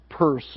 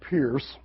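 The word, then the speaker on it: Peirce: of Charles Sanders purse pronounce it uh purse not Pierce and I think I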